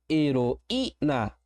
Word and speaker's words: heroína: E a palavra para fechar, heroína. O mesmo acontece aqui. Eu tenho um I tônico sozinho na sílaba. Eu tenho um hiato, a regra do hiato vai imperar. Ele vai mandar acentuar esta palavra.